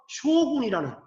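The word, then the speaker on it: 将軍: 쇼군. 이게 우리 발음으로는 장군, 일본 발음으로는 쇼군이 되는 거예요.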